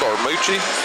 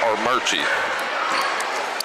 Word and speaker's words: Armuchee: Archie, but we were told we know it's spelled Armucci, but it is pronounced Archie.